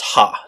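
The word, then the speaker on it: הָ: is to look for the definite article in Hebrew, the word the. It's pronounced ha. So you have Adam is Adam, or you have Ha-Adam, which is the Adam, the human.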